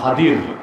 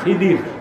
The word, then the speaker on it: খাদির: বান্দাদের মধ্যে, আমার বান্দা খাদির, যাকে আপনারা বলেন খিদির, আসল উচ্চারণটা কি? খাদির।